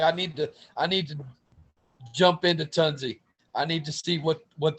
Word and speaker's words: Tunze: You know, Yeah, I'm sure the it's not tunes. Tunze. our company, the founder was Norbert Tunze, Tunze.